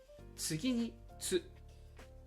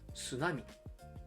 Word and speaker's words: tsunami: Many English speakers actually pronounce "tsunami" closer to "sunami." In Japanese, it definitely starts with a "tsu."